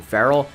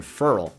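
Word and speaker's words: Clelin Ferrell: for Trayvon Mullin also I know some people are gonna wanted me to call him Farrell it's just not how he pronounces it himself so I looked into that months and months and months ago because I thought it was clean Farrell for a while I think everybody did but it's actually Cleveland Ferol out of his own mouth so I'm gonna trust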